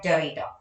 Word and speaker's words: Derrida: Then the second key figure in the development of post-structuralism in the late 1960s is the philosopher Jacques Derrida. Please note down the pronunciation.